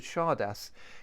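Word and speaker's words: csárda: of this dance had chardas comes from the Hungarian charda I think it's pronounced like that and it means a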